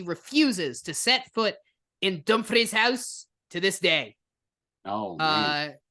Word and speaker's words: Dumfries House: Dumfries House, but I pronounced it properly.